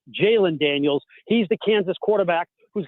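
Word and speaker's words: Jalon Daniels: You have to be careful in the way you pronounce the name. It's not Jaden Daniels, it's Jaylen Daniels.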